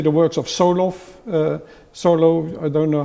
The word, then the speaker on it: Solow: Tinbergen, but also in, say, the works of Solow, I don't know how you pronounce him here, because you know how much better how to pronounce Solow. What is it, Solow or Solo? Solow.